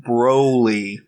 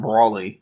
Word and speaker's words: Broly: issues Dragon Ball Z Broly Broly not Brawley Broly always pronouncing Brawley everyone